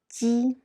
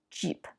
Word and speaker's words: 鸡: Now, when you see these, you tend to pronounce jeep, jeep. But in English, the jeep sound is by bunch up your tongue. But in Mandarin Chinese, it's a little bit different.